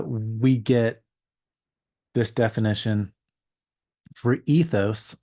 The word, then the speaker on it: ethos: get this definition for ethos or haos as it would be pronounced uh in Greek um custom manner Place